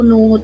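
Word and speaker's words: know: next word इस लो कि एक एंड नो नो थे और बर्ड यूसेज के एन ओ डब्ल्यू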